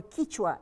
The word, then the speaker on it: Quichua: Between them, there is a temperate region of Andean valleys called Quechua, due to another pronunciation, Quechua or Quichua in Ecuador.